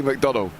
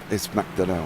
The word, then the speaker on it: McDonnell: It was nearly McDonnell, to be blatantly honest. But no, it's McDonnell, isn't it?